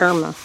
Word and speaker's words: Irma: I said Ida. It's Irma. Yeah, it is Irma. I said it wrong.